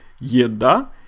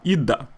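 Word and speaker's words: еда: correct way of saying food in Russian is ya da in everyday speech Russian say EDA now the letter A as we said is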